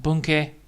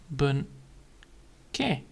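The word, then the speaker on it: 文型: Then we have a sentence pattern, which is then of course sentence pattern is then bunke. So the I is silent and the A is long.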